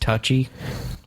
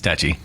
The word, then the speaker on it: Tucci: That Pronounced touchy. no, No, Stanley Tucci. it's touchy.